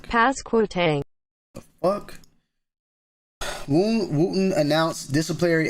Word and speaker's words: Pasquotank: Pasquotank. Pasquotank. Pasquotank. Pasquotank.